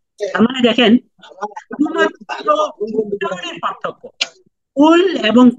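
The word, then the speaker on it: قل: কুল কুলহু আল্লাহু আহাদ কিন্তু এখন এই কফের উচ্চারণ যদি আপনি সঠিক না করতে পারেন আপনি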